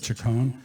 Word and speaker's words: Chacon: Peter Chacon, who told me I could call him Peter Chacon. I asked him how his mother pronounces it. He said Chacon. So it's Mr. Peter Chacon as far as I'm concerned.